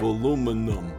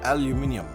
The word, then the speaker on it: aluminium: I'm from America we have aluminum but over in England they have aluminium much much more sophisticated i' I'd rather pay the same money for aluminium rather than buy aluminum you get an extra syllable in eng am I saki